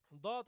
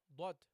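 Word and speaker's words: ض: Guys, when you pronounce this letter, barakallahu fikum, when you pronounce this letter, what you don't do, what you don't do is making your lips round, okay?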